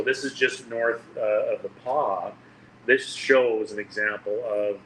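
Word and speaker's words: The Pas: So it's pronounced the Paw.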